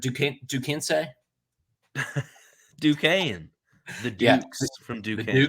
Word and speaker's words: Duquesne: How do you pronounce Duquesne? Duquesne.